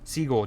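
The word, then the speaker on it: Segel: How do you pronounce Segal? Siegel.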